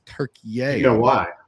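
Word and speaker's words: Türkiye: It's not Turkey anymore. It's Turkey.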